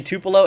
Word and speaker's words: Tupelo: including the Tupelo region I learned it's actually Tupelo in my live stream I had a hard time pronouncing this region but I finally think I got it down uh but Tupelo 1